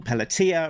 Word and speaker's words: Pelletier: Writer Larry Hmer, pencellor Paul Pelia rhymes with Pia um Inca Tony Cordos, colorist Francesco Sagala with flatter Sabrina Delgroso.